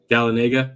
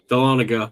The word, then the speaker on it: Dahlonega: was Charlotte um I completely forgot how to pronounce that word galladega no Dahlonega there we go um okay okay uh New